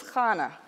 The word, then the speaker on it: Hannah: hear it pronounced as Khana that's more of a Hebrew pronunciation when I looked up